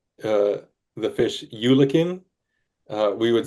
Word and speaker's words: eulachon: pronounced uh, the fish eulachin. We would say Yeah. Eulachon. We would say Ulican just to make sure we're talking about the same fish. Yeah. Alaska, they say hooligan.